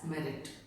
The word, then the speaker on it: meruit: Then suit for quantum merit. Merit, please note the spelling MERUIT, but we pronounce it as merit.